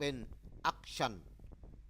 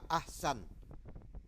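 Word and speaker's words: أحسن: กลาย เป็น ตัว ชีน เขา ก็ เลย อ่าน เป็น อชัน ซึ่ง แปล ว่า ที่ หยาบ คาย ยิ่ง แทน ที่ จะ อ่าน ว่า บิต อะซัน ด้วย สิ่ง ที่ ดี ยิ่ง เรา จึง ขอ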